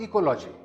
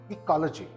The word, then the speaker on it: ecology: This word is not continuous. The stress is upon the second syllable.